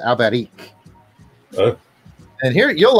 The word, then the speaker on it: Alberich: But yeah, there's actually a lot of Albrechts in Spain, except they say it fancy. They pronounce it Alberich.